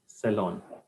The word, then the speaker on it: salon: not cost you 800,000 but the pronunciation will be sellon who wants to try